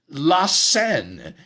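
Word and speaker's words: La Cène: the Last Supper is Lassen it's spelled Cen but it's pronounced the same way as the river that winds through Paris Lassen so this was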